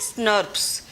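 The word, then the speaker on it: snRNPs: इस तरह से इनको प्रोनाउंस कैसे करते हैं, स्नर्प्स। तो दीज आर प्रोनाउंसिएशन तो स्नर्प्स है, और they are form by the association of small nuclear RNA.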